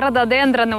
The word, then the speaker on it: рододендроны: деревом находится рододендроны рододендроны Да именно рододендроны ударение на е а не на о прошлой весной я пришла